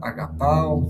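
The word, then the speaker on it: ἀγαπάω: cuál es la inflexión, cuál es el lexema, agapao, inclusive tiene una herramienta para que ustedes escuchen la pronunciación.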